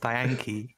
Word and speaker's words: Diancie: It's Diancie versus Garboda, though. Yeah. What happens? I wonder what Garboda will use. It's pronounced Diankee.